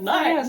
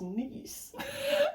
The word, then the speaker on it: Nice: We're gonna do a whole tour of Nice. France. Oh, I thought it was Nice. Well, I guess if you're pronouncing it in the French way, yes.